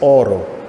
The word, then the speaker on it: oro: And this is because in Italian, the word for gold is Oro, O-R-O. But when she was little, she couldn't pronounce the R.